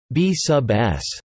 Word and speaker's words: B_s: Surprisingly, the bizarre behavior of the B_S pronounced B sub S mesons is actually predicted by the Standard Model of Fundamental Particles and Forces.